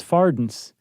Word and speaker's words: farthing: study this thing, that they used to pronounce farthings is fardens. Oh, interesting. Or at least it's something that rhyme closely to gardens.